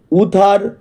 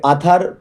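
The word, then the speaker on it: Uther: এখানে দেখো ইউ আছে। ইউতে তোমরা যেন দুটো উচ্চারণ হয়। ইউ হয় আবার কোথাও কোথাও আও হয়। তাই অনেকে এটাকে আথার পেন্ড্রাগন ও বলে। কিন্তু উথার পেন্ডাগন। এই নামটাই সঠিক হবে।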